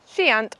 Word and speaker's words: Shiant: before we came here I wasn't sure if they were pronounced shiant or shant but we just met a guy whose family have owned these islands for about a hundred years and he calls it shant Islands so I'm going